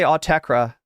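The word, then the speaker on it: Autechre: Most people just say Autekra, but it's like, I think if I was to be true to the French, I would say I would have to drink more water first.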